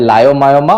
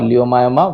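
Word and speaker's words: leiomyoma: similarly smooth muscle is known as either lioma or liyoma whichever want you you want to pronounce and lomos saroma okay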